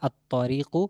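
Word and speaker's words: الطريق: বলতে চাই বলতে হবে আতরিকু লামের উচ্চারণ নাই তারপর দেখেন জ হচ্ছে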